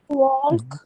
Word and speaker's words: walk: اوكي، do you Do walk، you walk? ديما غتبقى Walk. تلقى يس walk ال السايلنس ما كنطقوش.